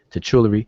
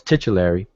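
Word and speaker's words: titulary: The text is part of a titular uh titular probably pronouncing that wrong titular no it's titularary which means title of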